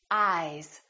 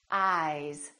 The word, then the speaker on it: eyes: Ice, eyes. Listen to the difference. Ice, eyes. This S is actually pronounced as a Z sound. This is actually Z, Z. This is voiced, and S, this is voiceless.